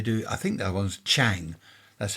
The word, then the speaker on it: Chang: And they do I think that one's Chang. That's how it's pronounced.